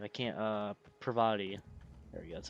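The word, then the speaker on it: Parvati: I can't Pravati. There we go. That's how you pronounce it.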